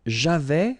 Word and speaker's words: j'avais: J'avais, final S not pronounced.